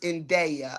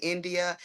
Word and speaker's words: Indaya: But her name is pronounced Indaya. A lot of people say India.